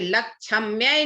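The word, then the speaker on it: लक्ष्म्यै: जैसे लक्ष्म्ये नमः करोगे तो पूरा छ हो जाएगा, इसलिए क्या क्या पढ़ेंगे, क्या प्रोनाउंसिएशन होगा? लक्ष्मये नमः। ल आधा छ आधा म, य में ऐकार।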